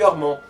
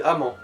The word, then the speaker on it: Amand: Salut Armand. Ah non, c'est Amand, Amande. mais sans le E à la fin.